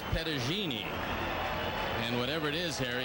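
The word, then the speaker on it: Petagine: Well, his father was, and they told me the pronunciation was Pettagini.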